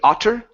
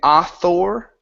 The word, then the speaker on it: author: so instead of saying author it's author with an R like saying her hey look at her